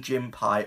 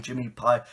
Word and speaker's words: Jimmy Pie: And I do think it is actually Captain Jimmy Pie. I think I've been saying it wrong for the past couple of years.